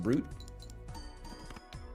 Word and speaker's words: Brut: don't know art Brut BR is pronounced brute I am brute champagne when it's in Guardians of the Galaxy okay been in SE